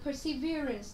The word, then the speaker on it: perseverance: Cái từ perseverance thì nó có nghĩa là tính kiên nhẫn, kiên trì. Thì từ này của chúng ta lại là trọng âm dương tiết thứ mấy? À, thứ 3.